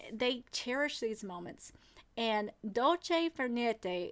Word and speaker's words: dolce far niente: And dolce far niente is how you say it, I think.